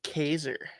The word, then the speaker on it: Kaiser: Kaiser. Rhymes with laser, taser, blazer.